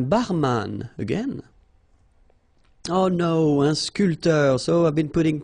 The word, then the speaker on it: sculpteur: This P here is not pronounced. So, sculpteur, un sculpteur, un sportif, un peintre.